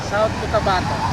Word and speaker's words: Cotabato: South Cotabato.